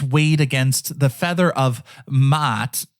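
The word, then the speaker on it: Maat: against the feather of mat I know I sound like a goat there it's m a a t doing my best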